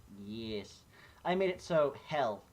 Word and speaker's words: Hel: watching Tartarus ah yes I made it so he'll not help the goddess hell was watching ah